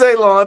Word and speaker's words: Alon: My name is Alon, pronounced like you're gonna cut grass, like you're gonna cut a lawn. It's not spelled that way, but it is pronounced that way.